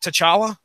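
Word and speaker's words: T'Challa: have rest for referenced what did they call him in the movie was it to chala yeah or so it wasn't tala it wasn't like the CH II was silent or anything so they was like they pronounced all the consonants and syllables that were their syllables vowels consonants of mouth okay all right well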